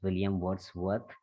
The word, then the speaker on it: William Wordsworth: I don't know what did you say, but its correct pronunciation is William Wordsworth, and he just wrote the lyrical ballads.